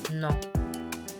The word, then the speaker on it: non: Oui, non. Oui, non. The O and N in your non is nasal, so you don't pronounce the N at the end, you just go We learned that when we learn our sounds, remember?